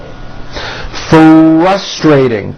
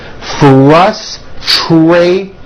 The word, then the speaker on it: frustrating: Frustrating. Strong R's in that word. Frustrating.